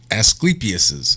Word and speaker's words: Asclepius: to make one correction asclepius's staff i believe is the correct pronunciation even i ended up